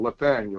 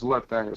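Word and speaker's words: Lathaniel: name is uh not it ain't spelled with an N but it's spelled with a l lethaniel instead of Nathaniel is lethaniel so that's l a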